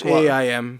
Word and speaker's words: Haim: All right, that was Haim. Is that how you pronounce it? Haim. I mean, It's like Haim. like Lahaim, like the Haim.